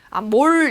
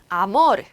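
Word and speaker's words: amor: 아모르, 아모르, 르 뒤에 아몰 이렇게 읽은 분들 있어요. 아몰. 영어를 너무 잘하셔서 그런 건데 자체까지 마시고요. 스페인어는 이 뒤에 이렇게 R이 하나 나오면 아모르, 아모르라고 읽어주시면 됩니다.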